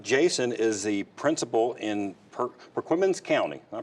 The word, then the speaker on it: Perquimans: Jason is the principal in Perquimans County. Did I pronounce that right? Yes. Perquimans County.